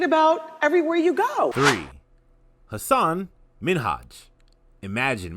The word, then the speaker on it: Hassan Minhaj: long into the conversation ellen mistakenly pronounced hassan's name as hasan minaj instead of hassan minhaj hassan was a little